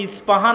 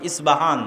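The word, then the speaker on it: أصبهان: আমরা প উচ্চারণ করি। ইসপাহান। আরবিতে এটা উচ্চারণ হয় না। আরবিতে হয় আল আসবাহানি। বা উচ্চারণ হয়। ইসবাহান বাসবাহানি সেখান থেকে 70 হাজার ইহুদি দাজ্জালের সঙ্গী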